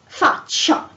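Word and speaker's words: faccia: so for example yeah the face facia you have double c but after the double c you have the i so you pronounce chi um or if not after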